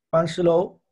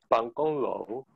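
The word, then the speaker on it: 办公楼: Panshilou. No, está cerca. Pangonglou. Pangonglou.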